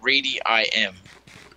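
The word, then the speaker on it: Reedyim: my design but it's designed by radiim and it's spelled as it sounds r e e d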